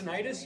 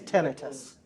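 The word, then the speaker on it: tinnitus: of you know what tenus is tenus tenius you mean is pronounced either way the correct way is tenus how many of you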